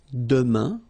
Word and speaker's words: demain: For the future now, we've got demain, and it means tomorrow. Demain, remember, when you combine this A-I-N, you get the sound un.